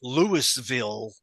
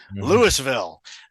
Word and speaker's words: Louisville: Yeah, John came in because I was the role model, and to all these Louisville, Kentuckians, Louisville, which is how prototype pronounced it as well.